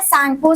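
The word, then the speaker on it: Tsangpo: सेंपो से। यहां पे टी जो है वो साइलेंट रहेगा। ठीक है?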